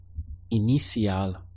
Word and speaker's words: inicial: Inicial. Once again, we have E, because the letter I is always pronounced as an E in Spanish.